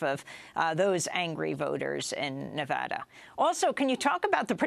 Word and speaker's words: Nevada: Well, since Nevada actually means a snowfall in Spanish, and that's the name of the state, it should be Nevada, but I guess the Anglos who settled Nevada decided to change the pronunciation.